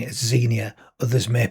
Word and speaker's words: Xenia: By the way, I'm pronouncing it as Xenia. Others may pronounce it slightly differently.